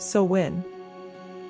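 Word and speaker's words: Samhain: This is sawin, pronounced sin, the Celtic new year.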